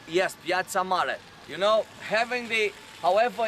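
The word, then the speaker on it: Piața Mare: Okay, so we are in what is called Sibiu, big square, or the main square, or Piazza Mare, that will say it like this. Yes, so Piazza Mare? yes, Piazza Mare.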